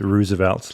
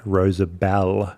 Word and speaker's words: Rosabel: Well, most people think your name, apparently, most Americans think your name is Roosevelt, like the president, and not Rosabel.